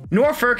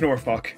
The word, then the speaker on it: Norfolk: Norfolk, England.